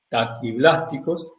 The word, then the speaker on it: taquiblásticos: Taki o tachi. Tachi se se escribe y se dice taquiblásticos que de cáscara muy blanda y esos explosionan rápidamente y se originan.